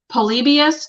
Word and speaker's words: Polybius: Polybius, do you know who this is, Ila?